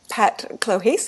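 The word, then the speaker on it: Pat Clohessy: athlete and as a teenager he trained under Pat clohes is that correct how I spel pronounced that yeah it is Donna yeah to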